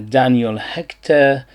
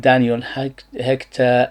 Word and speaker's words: Daniel Hechter: this is the brand Daniel Hechter, or at least this is how I pronounce it, because this is a French name. Probably I'm butchering it and it's completely a different pronunciation.